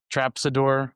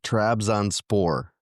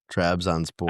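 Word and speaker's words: Trabzonspor: I do with pronunciation, but Trapsador, I don't even know how to say it. I think he finally agreed to terms. Do I have that right? Yeah, Trabz onspore. Trabz onspore.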